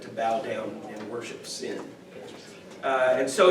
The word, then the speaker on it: Sin: the pronunciation is that it is pronounced as Sin um and you know